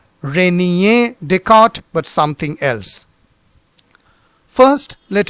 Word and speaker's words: Descartes: There is a Ghain sound, so that becomes Rene, Rene, and then this becomes Descartes, Descartes.